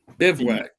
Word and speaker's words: bivouac: It's Bivouac. It's pronounced Bivouac.